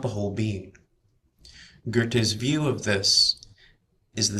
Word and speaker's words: Goethe: Uh Goethe, if you're not sure of the pronunciations.